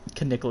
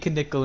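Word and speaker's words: Knickel: nicholl in 14th nickel can nickel excuse me k is actually pronounced for some reason ah okay i thought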